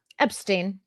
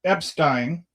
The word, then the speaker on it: Epstein: You pronounce it the German way.